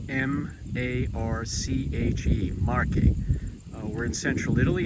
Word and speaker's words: Marche: Marche is spelled M-A-R-C-H-E, Marche.